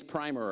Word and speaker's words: primer: And then in the book is a thing called the Young Lady's Primer, or Primer, depending on how you pronounce it.